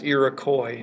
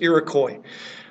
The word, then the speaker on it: Iroquois: or the iroy Confederacy I know the word ends in an S but you never pronounced the S so it's always iroy if it's singular or